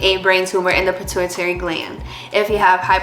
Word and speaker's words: pituitary: Uh, it's a pituitary tumor.